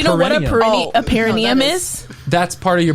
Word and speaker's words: perineum: you to try also i think it's pronounced perineum yeah perineum yeah yeah what's perennium uh